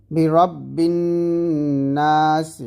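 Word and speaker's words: بِرَبِّ النَّاسِ: তো অবশ্যই এখানে বিরব্বিন নাসি আছে, তো বিরব্বিন নাসিকে আপনি বারব্বিন নাস এরকম বা দিয়ে পড়তেছেন, এরকম ভুল করা যাবে না।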